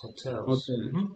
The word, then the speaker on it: hotel: Hotels, hotels. No, pronuncia la H.